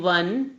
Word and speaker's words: one: We say a 1 rupee coin, not an 1 rupee coin, as we pronounce O in one as W in one.